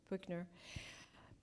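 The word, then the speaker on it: Buechner: Frederick Buchner, am I pronouncing that properly? B-U-E-C-H-N-E-R, Buchner.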